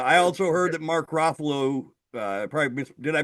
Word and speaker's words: Ruffalo: I also heard that Mark Ruffalo uh probably did I pronounce his name? Ruffalo. Ruffalo. Rufo.